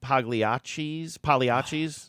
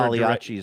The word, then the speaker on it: Pagliacci: They You do live in a deliver Pagliacci zone. Exactly. And I'm mad that I pronounced the G in Pagliacci the first time I said it.